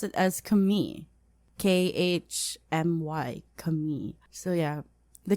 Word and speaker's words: Khmer: khmer and i found out that locals actually pronounce it as kami k-h-m-y kami so yeah the khmer rouge rogue